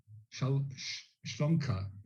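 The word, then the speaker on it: שלומך: In modern Hebrew, another common greeting is Ma Shlomka. I will spell that.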